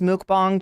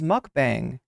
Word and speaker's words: mukbang: of all of the is it pronounced mukbang chat have I been saying this wrong the whole time I thought it was mukbang is it mukbang like